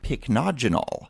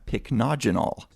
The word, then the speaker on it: Pycnogenol: And today we're going to be talking about something called, and this is a tough one to pronounce, so bear with me, Pycnogenol, which actually, if you look at the word, it's got a Y in it.